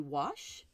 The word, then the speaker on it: gouache: interesting it would be wash this G is silent in French okay excellent well Stephanie